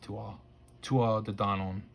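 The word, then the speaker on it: Tuatha Dé Danann: donan which it's spelled to arthur but it's pronounced tua tua the don on and uh you know it has uh king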